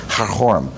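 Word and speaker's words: Karakorum: there of Korum or as it's pronounced in Mongolian haror the um sounds in Mongolian are quite different from uh sounds in England anyway Korum or haror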